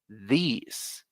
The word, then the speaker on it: these: in the chat is these these it's like our natural sound in Spanish these and it's long remember that so with these top